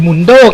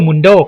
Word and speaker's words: Mundo: หลาย คน ก็ ยัง เรียก ผิด เป็น หรือ Mundโด้ กัน เลย นะ ครับ ซึ่ง ชื่อ ที่ ถูก ต้อง ที่ สุด ก็ คือ ดร. Mundโด้ ครับ แถม พิเศษ สำหรับ แชมเปี้ยน ใหม่ ประจำ PATพช.